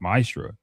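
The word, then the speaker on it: מעשר: It means 10th in Hebrew and is pronounced ma'asra.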